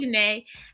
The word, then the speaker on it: Janae: honesty miss jessica and i don't know if i'm saying janae or gina but you are saying it perfectly you are one of the first people that say it correctly and you don't know me so thank you it is just janae hello everyone um again